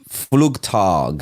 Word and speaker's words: Flugtag: called the fluke I'm going to get the name wrong can you the fluge fluge flug it's called flug tag flug tag for Red Water yeah I've watched